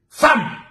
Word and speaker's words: femme: Femme. Son nom même ça s'écrit F-E.